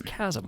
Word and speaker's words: chasm: or some people called chasm but it's it's chasm it's a you know divide like a gran grand canyon like a you know big hole on the ground some people mispronounce all kinds of words but it's chasm like aluminium well that's the see that's a